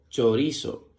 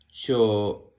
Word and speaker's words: chorizo: La palabra chorizo se escribe con C-H-O, que suena cho, R-I, que suena ri, Z-O, que suena so, chorizo, chorizo.